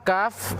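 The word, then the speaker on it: ك: Akan tetapi perbedaannya, kalau qaf dia tidak mengeluarkan desis, tidak mengeluarkan angin. Kaf mengeluarkan angin.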